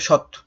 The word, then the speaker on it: সৎ: মানে শত কিন্তু যখন যখন আমরা হসন্ত দিচ্ছি তখন কি হচ্ছে এই ও কারটা হারিয়ে যাবে এখানে কোন কার যুক্ত হবে না তখন কি হবে সৎ সৎ এখানে সত হবে